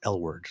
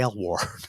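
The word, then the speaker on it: Aylward: keep on it's pronounced it's spelled a-y-l-w-a-r-d and it's pronounced L word like like the TV show it's like when you're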